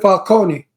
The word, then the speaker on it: Falcone: No, but they pronounce it Falcone. Yeah, that a lot of people pronounce it Falcone. The Italian way. The Italian way is Falcone.